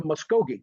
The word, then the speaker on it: Muskogee: The V as in Victor is a vowel in our language that's pronounced very very similar to the American or English UH.